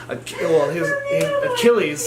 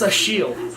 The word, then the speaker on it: Achilles: it's like, it's pronounced Achille. Like, it's French, Achille. And so I was like, this whole fucking time I'm calling him Achilles?